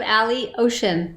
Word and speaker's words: Alioshin: your last name cat eliashin no just think of ally ocean like an alley ocean oh that's that's easy